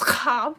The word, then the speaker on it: Schwab: Actually pronounced Chab, where you hawk a phlegm.